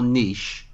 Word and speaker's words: niche: is the narrower your niche, the broader your appeal. Yeah. And you've kind of, and I know you guys pronounced it incorrectly, but the correct word, by the way, is niche. Yeah, I'm good.